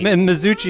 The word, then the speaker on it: Mazzucchi: Mazzucchi? Yeah, I think you're about there. Mazzucchi. Mazzucci is how it's pronounced about 95% of the time. So Oh, Mazzucci. when you get that hard K, I'm pretty stoked.